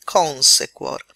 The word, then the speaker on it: consequor: e dobbiamo leggere consequor perché lei è breve e la U è tutt'uno con la Q, quindi non fa numero sillabico. Quindi le sillabe sono or è l'ultima, anzi cuor è l'ultima sillaba, se è la penultima. Se la penultima è breve, io devo far ricadere l'accento sulla terz'ultima, quindi consequor. Quindi sembrano due vocali, in realtà non lo sono.